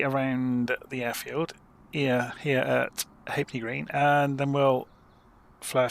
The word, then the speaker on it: Halfpenny Green: So, the LF was chopped out and everybody just said Hapney.